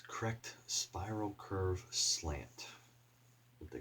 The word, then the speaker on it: Krect: it their ratio correct k-r-e-c-t it's correct spiral curve slant what